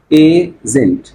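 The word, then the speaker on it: isn't: अगर इज नॉट है तो उससे बनेगा इजंट। इसको पढ़ेंगे कैसे? इजंट, इजंट।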